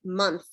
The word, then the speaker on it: month: if you think about the word month like why does it say uh but we spell it with an O and that's we can thank the scribes who didn't like the way the MU looked and they liked the way Mo looked better because there were too